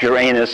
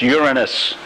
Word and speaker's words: Uranus: It's not, by the way, pronounced Uranus. It's Uranus.